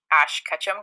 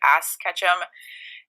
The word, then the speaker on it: Ash Ketchum: I remember that I could not pronounce Ash Ketchum correctly, and I'd always say Ass Ketchum, and all the kids